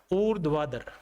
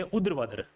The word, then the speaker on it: ऊर्ध्वाधर: आ गया उर् दवार इसका उच्चारण क्या हो जाएगा उर्द वादर क्या हो जाएगा उर्द वादर बहुत सारे यानी बच्चे ऐसे बोलते उद्र वादर उ वादर नहीं होता है ये उर्द वादर होता है अगर इसको अच्छे तरीके